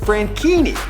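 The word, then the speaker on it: Franchini: for a pretty simple reason his name is pronounced frankini something that was easy to tell by the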